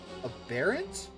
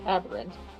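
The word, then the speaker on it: aberrant: Aarent. That's pronounced aberant.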